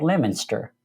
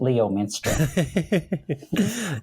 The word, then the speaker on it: Leominster: It's a town of about 20,000 people, and it's called Leominster, and it's spelled Leominster. So my GPS always calls it Leominster.